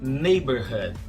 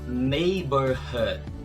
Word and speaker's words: neighborhood: A pronúncia dessa palavra é neighborhood, que significa vizinhança. A letra muda nesse caso aqui é o G. A gente fala neighborhood.